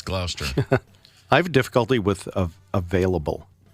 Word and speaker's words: Gloucester: And Gloucester, Gloucester, but it's Gloucester.